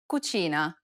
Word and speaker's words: cucina: C, This sound is identical to the ch in church. The only difference, though, is that it's stressed even more in Italian than it is in English.